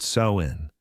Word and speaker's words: Samhain: This is Sam, pronounced Sain.